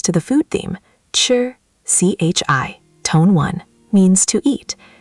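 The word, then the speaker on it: 吃: Chi, c h i, tone one, means to eat. You already heard it inside chi le ma. Say it. Chi. Chi. High and flat, like ji from airport.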